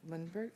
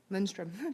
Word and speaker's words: Lindstrom: Both Brian Lindbergh, how do we say his name? Lindstrom. Brian Lindstrom will be here talking